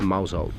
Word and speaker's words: Mousehole: the night in the place called Mouse out because let's face it who doesn't want to stay in a place that is spelled like mouse hole and also send